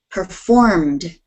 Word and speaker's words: performed: performed performed performed performed try not to pronounce the Ed so strongly it isn't performed that's kind of a that's a kind of Spanish way of talking and in English we don't do it that way listen carefully performed performed perform don't get don't don't put the e in there performed perform good